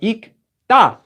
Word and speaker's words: 읽다: So now we have ikda. Ikda is how we pronounce that verb to read. Though you might hear people pronouncing it incorrectly as well, you know, if they don't know that. But anyway, so anytime you have a lir at the bottom, as one of those two, you do not pronounce the lir.